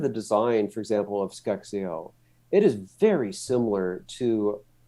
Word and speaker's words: SCExAO: So say we bolt that upgraded version of Sphere, or how do you pronounce it? Skexio. Yes. Skexio.